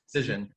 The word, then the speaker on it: Cision: Is that how you pronounce it? Cision.